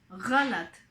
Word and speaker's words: गलत: गलत. G, it's a G sound. I guess it's easy for French people to pronounce this sound.